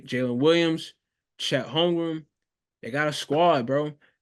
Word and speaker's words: Holmgren: The M is in the middle and the N is at the end. Yeah. I remember that when I spell it, but when I say it, I still say Holmgren.